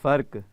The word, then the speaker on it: فرق: جی دیکھتے ہیں کہ یہ فرق ہے کیا اصل اس کا تلفظ ہے. جی فرق.